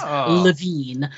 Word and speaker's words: Levine: and say that, yes, we did pronounce his last name correctly, which is Levine.